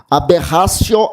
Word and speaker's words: aberratio: Aberratio é o erro. Aberratio se escreve com T, é aberratio.